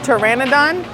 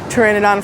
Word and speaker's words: pteranodon: I call it the pterodactyl ride because it looks like a pterodactyl, but it's called a pteranodon, or pteranodon because it's got a silent P in the beginning.